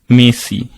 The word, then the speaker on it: merci: So when they're saying it was mercy, it is written as mercy, but you say merci.